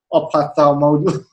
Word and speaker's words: ophthalmology: Fee is the consultant eye surgeon from Repulse, and she's also the deputy head of ophthalmology. How do you pronounce that? Ophthalmology. Yeah, ophthalmology in the Ministry of Health.